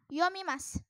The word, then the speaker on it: yomimasu: punya oke nah terus yomimasu yomimasu dibaca yummy Mas enak terus Satu lagi